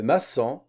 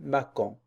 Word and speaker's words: maçon: Exemple, le maçon. Le maçon, si on n'a pas de crochet, ici, on va la prononcer le macon.